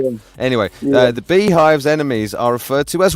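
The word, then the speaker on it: Beyhive: The Bayhive. Oh, no, so I suppose it's B-E-Y, Beehive, but spelled B-E-Y, because it's like Beyonce, isn't it?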